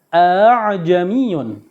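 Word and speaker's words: أأعجمي: Bacaan tashil ini artinya meringankan bacaan hamzah yang kedua. Ini terdapat di surat ke-41 ya, yaitu surat Hamim atau As-Sajdah Fussilat ya, ayat 44 juz 24. Bacaannya a'jamiyun.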